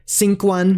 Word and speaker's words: sigqan: Unlike English, the letter U does not necessarily follow this letter. Examples of words with this sound include sinquan, meaning to sink, and requis, meaning darkness.